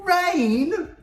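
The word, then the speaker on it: Reign: Rain? North and Rain? But it's spelled R-E-I-G-N.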